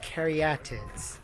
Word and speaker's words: caryatids: So, they're pronounced caryatids and they're part of the Erechtheion.